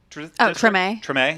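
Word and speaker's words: Tremé: Like, we got, in my other video I posted, we got time to go to Dookie Chase's in, how's it pronounced? Is it Treme? Treme.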